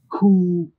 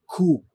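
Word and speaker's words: coup: Coo. Try it again. Coo. And try it one more time. Coo. It is coo and not coop.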